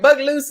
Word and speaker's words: Bogalusa: Bogalusa, Louisiana.